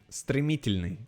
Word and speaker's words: стремительный: No, I cannot pronounce your nickname. Strimitolini. Why is there an I before the Y? What? Strimitolini. Стремительный.